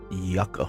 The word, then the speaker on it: yucca: i was mispronouncing it so it's yucka fruit yucca like anyway it's yuck so i'll probably continue